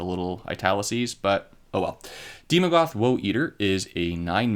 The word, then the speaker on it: Daemogoth: card next up is demogoth woe eater i'm assuming that this is pronounced demogoth because ae usually is pronounced e although they're not together with the little italicies but oh well demogoth woe eater is a